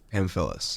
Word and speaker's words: Pamfilis: Pamfilis. Pamfilis.